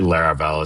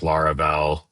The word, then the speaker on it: Laravel: I think there's like probably like a couple pronunciations I would consider correct. Like obviously Laravel is how I say it. I don't really mind if people say like Laravel with like, you know, kind of a l sound on the front.